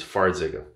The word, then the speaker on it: Farxiga: border but in one it's spelt f a r and the other one is f or four zega versus far zega same drug different name